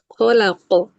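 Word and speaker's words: خلق: Khalaqo jangan hilang bunyinya tuh. Jangan jadi hilang gitu pas dia qalqalah. Pas bunyi qalqalahnya jadi enggak kuat. Kalaqo. Iya betul. Kholaqo.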